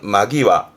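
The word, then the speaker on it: 間際: 그러니까 간제라는 말은 없으니까 이때 시간의 간자의 훈독은 마. 그래서 발음은 마기와.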